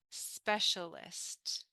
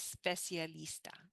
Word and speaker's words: specialist: to pronounce it es specialista in English we don't have the E and you don't pronounce it you start with a